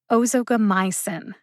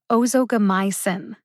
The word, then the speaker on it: ozogamicin: i emphasize them inotusumab where is the emphasis in ozogamycin it's on my the primary emphasis is on my emphasize my the most the secondary emphasis is on o as the syllable with the secondary emphasis o gets almost as much emphasis as my ozogamycin hear the syllables that are emphasized ozogomycin you might wonder